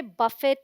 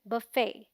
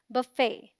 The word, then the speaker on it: buffet: The BUF sounds like buff, which rhymes with fluff, and the FET has a silent T, so it sounds like fay, as in say, and is the stressed syllable, meaning इस पर थोड़ा जोर देकर बोलेंगे fay, ना कि fe.